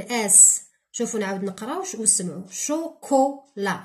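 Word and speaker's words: chocolat: شوكولا راكم تسمعوا كو كا، دونك شوكولا هذا نكتبوه هنا. وعلاه؟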